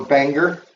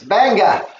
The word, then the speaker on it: Bangor: the big Metropolis of bang or Banger or say it right Bangor it's banga okay just like they say it around here anyway so and